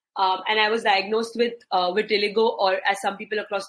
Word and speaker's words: vitiligo: And I was diagnosed with vitiligo, or as some people across the world pronounce it, vitiligo, when I was 18.